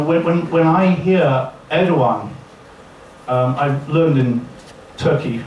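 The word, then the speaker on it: Erdoğan: when when I hear Edan um I learned in Turkey for the first time some time ago it's not Ed gun it's the one it's soft G with two dots when Edan said I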